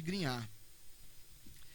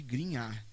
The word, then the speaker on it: Grignard: Reagente de Grignard. Estou falando Grignard aqui, que em francês é assim que se pronuncia.